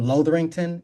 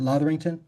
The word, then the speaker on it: Lotherington: And then um h so is that your last name Lorington? Is that Canadian? That's an English name. Yeah. English name. Okay. Yeah. Yeah. I thought that. And how did you pronounce it? Latherington.